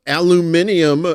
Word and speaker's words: aluminium: would create a an aluminium I would say it like the British say it. I like that because it I think that's probably how you should say it.